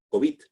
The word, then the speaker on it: COVID: estos últimos meses, que la pronunciación más extendida es COVID, es decir, una pronunciación aguda y no grave.